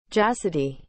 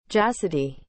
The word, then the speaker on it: Jassidae: and not distinguished from it in sum classifications jacidi is spelled j a s s i d a e chasity